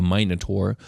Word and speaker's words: Minotaur: The Minotaur, or as it was originally pronounced, the Minotaur, which was a singular monster instead of a species.